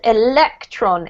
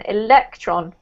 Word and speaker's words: electron: one pronunciation this is electron electron okay electron yes so the emphasis is on the lek electron okay got it